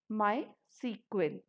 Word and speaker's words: MySQL: database management system and we can pronunce my SQL as my sequel thus my SQL software